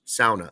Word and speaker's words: sauna: deer camp and their sauna. Excuse me, sauna is how they say it up there.